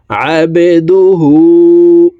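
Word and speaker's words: عبده: হাকে ঠোঁট গোল করে এক আলিফ টেনে পড়বো আবেদুহু ওয়াও জবর ওয়া র জবর র ওয়া র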